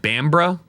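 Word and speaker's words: Bamburgh: It's pronounced bambra.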